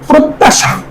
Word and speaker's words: প্রত্যাশা: এরপরে প্রত্যাশা, প্রত্যাশা, খেয়াল করো প্রত্যাশা, এই জ ফালার কারণে তদ্ধিত উচ্চারণ হবে প্রত্যাশা।